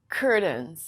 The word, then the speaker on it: curtain: the word curtain curtain I cannot use the fast D sound like water bottle because when you see t a i n we cannot use the fast D we have two pronunciations I can use a realy and say curtains but most people don't do this most people say curtains well how do you do that you make a stop te Curt you stop